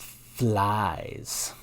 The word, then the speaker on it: Phylzzz: not Palm whatever that means but it is pronounced flies like fly and that is a shirt